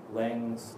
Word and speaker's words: Laing: I have a lot to say, and I think there's probably two ways to pronounce Laing's name. There's the anglicized and the Scottish name. My heritage is also Scottish, so I'm going to say Laing.